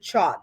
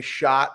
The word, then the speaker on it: Chott: of people pronounce it chot right I get chot shot sh uh when people would say shot my dad you know